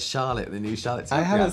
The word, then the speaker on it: Charlotte: Because it has an E on the end. Look, so then you Charlotte. softly pronounce the vowel before the consonant, right? Yeah, I think so. So it's like car.